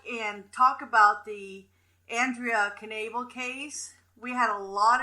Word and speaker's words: Knabel: her name is Andrea Knable so you do say the cave and it's pronounced as it's spelled and she wanted to